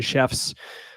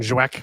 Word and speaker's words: Szewc: 2 seasons now, Jordan Chefs. People call her Jordan Zwek because they can't say her last name, Szewc, but it's pronounced chefs, like the cook in the kitchen.